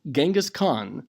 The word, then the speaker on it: Genghis Khan: After the unification of several nomadic tribes under Temujin, who was called Genghis Khan, sometimes pronounced Chinggis Khan, meaning universal ruler.